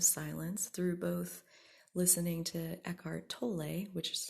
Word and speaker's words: Eckhart Tolle: those spaces of silence through both listening to eckhart tolle which is how you properly say his name i definitely have pronounced it wrong in the past if you've